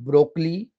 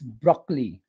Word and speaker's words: broccoli: next vegetable is b-r-o-d-c-o-l-i not broccoli it's broccoli broccoli broccoli high in